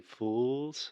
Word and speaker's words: fools: call this lip roundedness so alexia what you want to do is simply relax your lips and this is easier said than done so a good trick or tip to help you with this is simply to smile when you're saying fools fools and that will help you prevent making that circle with your lips which is really giving